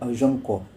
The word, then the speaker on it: अर्जंको: जी हाँ, इसका प्रोनाउंसिएशन है अर्जंको। स्क्रीन पर दिख रहा होगा आपको इसका प्रोनाउंसिएशन। फ्रेंच वर्ड है। वैसे अगर आप देखें तो एजिनकोट है ना, तो बहुत सारे लोग पढ़ते हैं इसे एजिनकोट, लेकिन सही है अर्जंको।